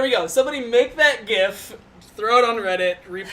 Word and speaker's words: GIF: Somebody make that GIF, throw it on Reddit, reap the karma. And it's pronounced GIF, by the way.